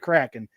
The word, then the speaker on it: Kraken: and then and you and it is said Kraken I looked it up to make sure I was pronouncing it right right so goad I was